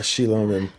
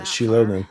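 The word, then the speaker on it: Xilonen: were summoned by Shilonen. See, I remember how I pronounce it. I remember how I pronounce it because you told me how I pronounce it. Shilonen, right?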